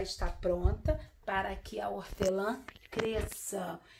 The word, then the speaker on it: hortelã: Não sai o sonzinho do H. Sabe por causa de quê? Porque o H, ele é mudozinho, ele não tem som. Então por isso que só sai o sonzinho do O.